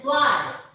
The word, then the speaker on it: Zwei: And E is A, I is E. So, this is Zwei. Zwei.